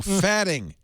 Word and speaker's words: phatic: that the meaning of phatic farting. means it. Farting. We're back to farting. No, fatting.